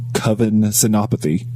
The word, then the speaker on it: Kavin Senapathy: Welcome to the show, Kavin Senapathy. Thanks for having me, you guys, and you pronounced my name perfectly, which rarely happens, so on that.